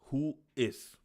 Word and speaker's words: WHOIS: Who is not an acronym, is pronounced who is.